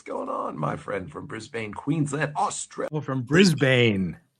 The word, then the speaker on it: Brisbane: What's going on, my friend from Brisbane, Queensland, Australia? Oh, from Brisbane. You don't say Bane. It's just Brisbane.